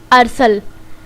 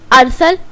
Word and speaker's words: ارسل: to smart light tube आज का नाम है अरसल असल नाम के इंग्लिश में स्पेलिंग है ए आर ऐस ऐल जिन्हें लड़का